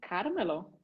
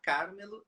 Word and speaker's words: Carmelo: seu nome eu pronuncio Carmelo? Com acento no A. E o pessoal ainda me chama Carmelo várias vezes. Ah. Mas tem acento no A, Carmelo.